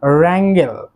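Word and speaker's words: wrangle: সো এই যে আমরা র্যাঙ্গেল, র্যাঙ্গেল যে ওয়ার্ডটি শিখলাম, অর্থাৎ ঝগড়া করা, এই র্যাঙ্গেল ওয়ার্ডটির সামনেও কিন্তু ডাব্লিউ যে লেটারটি রয়েছে, এই লেটারটি কিন্তু উচ্চারণ হচ্ছে না।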